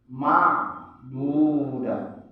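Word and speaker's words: مَعْدُودَة: Ma'dudah. Jangan kita baca ma, tapi ma'dudah. Ain.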